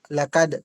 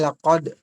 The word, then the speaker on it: لقد: kitab kitab ganon kitaban at saka itong kaf yung bigas mo ay ka lakad kailangan laqad parang makapal baf laqad laqad itof